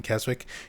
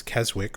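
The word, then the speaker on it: Keswick: You don't pronounce the W in Kzwick? Yeah, pseudo bandit. I'm aware there shouldn't be a W in there if you don't pronounce it.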